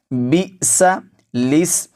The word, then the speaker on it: بِئْسَ الِاسْمُ: کے نیچے نہیں ہے۔ تو لام زیر سین لس، بی سا لس، یعنی پہلے سین پر زبر پڑھیں گے، اس کو آگے ملائیں گے نہیں، اس کے بعد الف جو ہے اس کو چھوڑ دیں گے، پھر لام کے نیچے زیر پڑھیں گے اور اس کو سین کے ساتھ ملائیں گے۔ لام زیر سین لس،